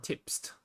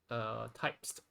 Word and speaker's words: Typst: This is types or tipst. I'm not sure how to pronounce it properly, but I'll just call it typest. Okay. If you think it is tipst, I think you can leave a comment there. I think the original authors are supposed to, they said they might want to name it like the tips, TYPST. Supposed to it's supposed to rhyme with hipster or something.